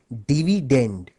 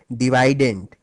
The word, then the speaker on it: dividend: dividend by the way the correct English pronunciation of this word is actually dividend but since divident ryes better with divisor